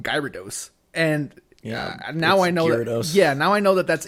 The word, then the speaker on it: Gyarados: Guys, I didn't know how to pronounce his name because growing up, I always called him Gyarados. And now I know Gyarados.